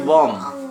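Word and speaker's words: bomb: তাই লেখালাম নাহলে লেখাতাম বিওএমবি বম বম মানে বোমা সিওএমবি কোম কোম মানে চিরুনি ডিইউএম বি ডাম ডাম মানে বোবা বোবা মেয়ে বোবা গার্ল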